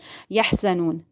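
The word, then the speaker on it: يَحْزَنُونَ: Yahza. Za. You need to read it strictly. Za. Yahzanun. Noon. Waw is silent and before that there is zama. You need to stretch it according to one alif.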